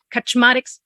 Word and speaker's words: Kaczmarek: like they were exactly Kaczmarek. We've got a Polish colleague who told me that that's the correct way to pronounce that name. So Kaczmarek submitted this.